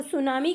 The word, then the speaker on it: tsunami: यहाँ पर टी होता है साइलेंट और सुनामी का मतलब होता है हार्बर वेव यानी कि समुद्र की लहरें।